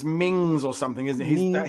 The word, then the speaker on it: Menzies: I think it's Mings or something, isn't it? He's one of those ones that doesn't pronounce it the normal way. But yeah, it's written Menzies, but it's Mingis or something like that.